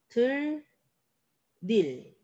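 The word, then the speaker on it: 들일: 자, 2번 들, 일. 앞에 받침이 있어요. 그리고 빈자리에 들어갑니다. 들, 릴. 근데 화살표가 있죠? 안 끝났어. 뭐까지 해줘야 돼요? 리을과 만나니까 유음악까지 들, 릴. 유음악까지 해주셔야 돼요. 자, 3번 한 받침 있죠?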